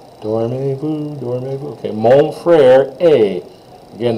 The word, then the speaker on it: est: Again, that EST is always pronounced like A, like the last two letters in the word day, or bay. or okay, A, that A sound is what you want, okay?